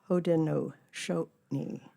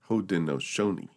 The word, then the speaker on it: Haudenosaunee: Also, I want to make a correction on that pronunciation. Yes, go ahead. It's Haudenosaunee. Haudenosaunee.